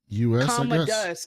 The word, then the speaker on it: Commodus: Like Commodore, Commodus. Okay. So Uncle, he's like, act. Don't say a lot of shit around Uncle Commodus, because he's crazy.